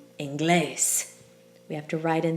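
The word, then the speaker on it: inglés: the accent falling on the second to last syllable but that's not how we say it we don't say English we say English we have to write in that accent mark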